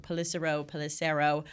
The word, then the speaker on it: Pelissero: I always say his name wrong. Pelissero.